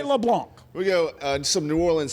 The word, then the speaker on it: LeBlanc: That is a silent C, not a hard C. And I'm going to continue to talk about this until the LSU voice gets it right. LeBlanc.